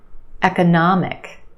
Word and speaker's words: economic: Economic. Economic. We've got four syllables. The third syllable is your stressed syllable. Nah, the a sound. Economic. And we have a schwah in the second syllable.